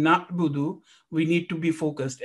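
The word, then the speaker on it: نَعْبُدُ: So when we are pronouncing na'budu, we need to be focused. And there is a sukoon on ayn, so there isn't a jerking sound.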